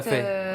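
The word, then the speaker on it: Phở: Voilà, ça se prononce comme ça, le Ok, fa.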